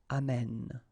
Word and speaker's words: amène: And then it will change, of course, the pronunciation, because you will have this sound open, amène.